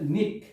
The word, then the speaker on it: knick: তাহলে আমরা আজকের এই ক্লাসের মধ্যে দিয়ে জানতে পারলাম যে সাইলেন্ট লেটার্স কে, কে কে শব্দ লিখতে গেলে কে থাকবে, কিন্তু উচ্চারণের সময় কে থাকবে না।